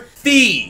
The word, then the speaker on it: Fi: I made the executive decision to call this blue motherfucker right here, Fee. I got comments in the past saying it's actually pronounced Fi.